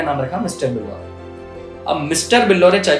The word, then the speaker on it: Billore: अब मिस्टर बिल्लोरे चाय के ठेले का तो नाम रख दिया BILLORE, यानी बिल्लोरे की जो स्पेलिंग है ना बिलियनर से मैच होती है। लोग बिल्लेनर बोलते थे, कोई बिल्लो रानी बोलता था।